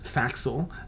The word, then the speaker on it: Thaxil: So, of note, Thaxil. It's Thaxil. It's spelled differently, of course, but a similar sound.